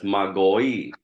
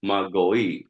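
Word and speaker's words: μάγοι: So in the Greek, it's actually pronounced as Magoi, Magoi, Magoi, Magoi.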